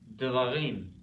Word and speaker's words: devarim: Now, if we add a little oil to it, to lubricate this a little bit with the schwa, devarim. Hear that? Devarim. See how it works now?